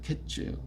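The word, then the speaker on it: קֵץ: 끝이라는 말은 캐라고 그래요 케츠 그 그랬으니까 어 카이나 케나 이말 발음이 비슷 우리 말도 같은 단어를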